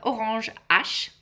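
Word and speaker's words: Orange H: So that's why uh it's called orange ash because the H stands for Hermes.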